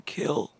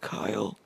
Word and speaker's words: Kyl: this exchange with John kill whose name is really kill even though he pronounces it Kyle is k y l which in my